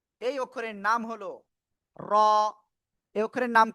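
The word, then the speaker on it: ر: এই অক্ষরের নাম হলো র। এই অক্ষরের নাম কি? র। ঠিক আছে, তো এই অক্ষরটা কিভাবে উচ্চারণ করতে হবে? জিহ্বার আগার পিঠ তারপর আবার উপরে তালুর সাথে লাগিয়ে আমরা এই অক্ষরটা উচ্চারণ করব।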